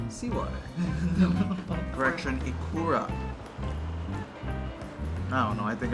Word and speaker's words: ikura: Correction, ikura. I don't know. I think I went through a couple different pronunciations.